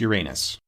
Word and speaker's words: Uranus: Uranus, sometimes pronounced Uranus.